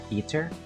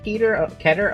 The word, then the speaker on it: Keter: To go through the entire game with only Peter? Or Keter? I'm sorry, it's pronounced Keter.